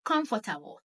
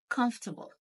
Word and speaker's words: comfortable: Notice how I pronounced the word comfortable, not comfortable, comfortable.